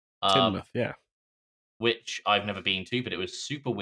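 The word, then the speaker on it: Tynemouth: Um, so we drove down to I thought it was pronounced Tiny Mouth or Tainmouth. Uh, it turns out it's pronounced Tinmouth. Tinmouth.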